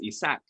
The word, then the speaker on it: Ishaq: You would pronounce the H, Ishaq in Arabic. But I grew up in a mixed household. So I grew up in speaking Spanish actually. And in Spanish, the name is Ishaq. And that's how I grew up, always pronouncing it.